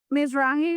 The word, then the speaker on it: Mizrahi: Jews, Mizrahi, is it Mizrahi? I always mispronounce it. Mizrahi, that's how you say it.